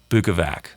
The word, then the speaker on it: Bukovac: He put out a video like the next day, and that video was called Pronounced Bukovac.